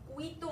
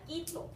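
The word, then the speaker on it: Quito: 우이또 아닙니다. 끼또. 끼또. 끼또.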